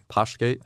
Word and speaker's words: Postgate: This is one of the beatified, martyrs, Blessed Nicholas Postgate, but I don't think it's pronounced Postgate. It's Postgate. Postgate. We don't pronounce the T.